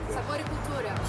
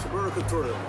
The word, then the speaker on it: Sabor y Cultura: I play music in a place called Sabor y Cultura, which is probably, you can say better in Spanish pronunciation. Sabor y Cultura. Sabor y Cultura.